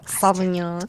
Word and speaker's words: Sauvignon: pronounce that? Cabernet, Sauvignon. Sauvignon. Yeah. Sauvignon.